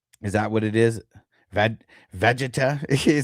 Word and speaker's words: Vegeta: know if you know how to pronounce the name. Okay, so it's Vegeta. Is that what it is? Vegeta.